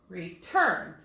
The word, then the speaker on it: return: But let's try putting our accent on the other part of the other half of the word, on the second syllable. So now it says return. Do you return your library books? Ah, that sounds better, return. So the accent is on the turn.